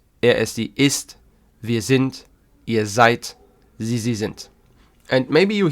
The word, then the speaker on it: seid: So you would say, wir sind, ihr seid, sie sind. So the D at the end of a word in German is actually like a very soft T.